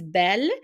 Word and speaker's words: bel: you will see that we use Bell which is Bel l it we pronounce the same way as the feminine form but it has only one L we use the second